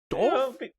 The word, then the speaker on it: doof: Doof? Did you say doof? Yes, that's how you pronounce that.